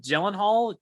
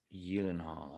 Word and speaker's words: Gyllenhaal: this on uh conan jake gyllenhaal that's not actually how you pronounce gyllenhaal but gyllenhaal just sounds better it's in swedish it's eden hall young hall i see i didn't